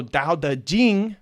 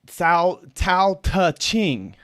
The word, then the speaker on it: Dao De Jing: that's how it's pronounced in pinion and so Dao the Jing right as if you look at the Wade Giles it's like um it's like uh Sal Tau touching no that's not how you pronounce it in Chinese it's Delta Ding and